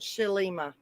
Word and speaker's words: Shelima: okay i'm so glad shelima i had to ask my granddaughter how to pronounce it she says it's sort of like my other granddaughter's name is selena so hi justice i